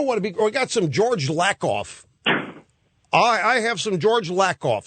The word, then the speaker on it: Lakoff: We got some George Lakoff.